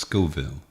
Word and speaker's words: Scoville: you by the Beef Jerky Outlet it's it's pronounced Scoville skille yes cuz it's named after the guy